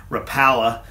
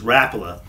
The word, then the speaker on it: Rapala: people call this or is known as a Rapala but I believe the actual correct pronunciation of the name is Rapala and this lure was developed in 1936 by